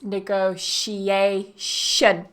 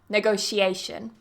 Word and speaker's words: negotiation: the noun negotiation negotiation so one thing that some Learners struggle with is that t i o n ending and sometimes they want to pronounce it as ton or seon but in this case negotiation it's a sh in this word negotiation that's right and